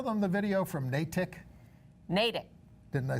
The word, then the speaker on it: Natick: Natick. Didn't I say it right? Yes, but you you pronounced it like Donald Trump pronounces LGBTQ.